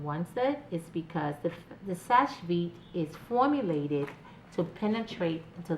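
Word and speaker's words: Seche Vite: So the Sash Vite top coat is, some people in the industry call it sachet and all that, but it's actually called Sash Vite.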